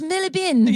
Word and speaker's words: Marylebone: So John Bingham, during World War II, when he was a boy, he was evacuated out of London, out of Marylebone. They're gonna be like, it's pronounced Millibin.